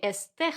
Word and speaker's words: este: I'm going to say este jardín, este jardín. The pronunciation actually is quite important. Este, esta. So at the beginning of the word that we have that emphasis.